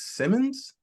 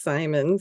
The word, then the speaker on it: Simons: spelling of your name is it actually pronounce Simmons it's Simons it Simons ah okay Scottish way back okay see mine Simmons